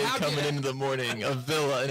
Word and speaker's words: Avila: What's the proper way to pronounce it? Avila.